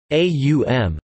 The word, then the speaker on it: Aum: The word has three phonemes, aum, though it is often described as trisyllabic despite this being either archaic or the result of translation.